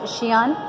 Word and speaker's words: Xi'an: Xi'an? Xi'an. I think it goes un at the end. So it's X-I-apostrophe-A-N.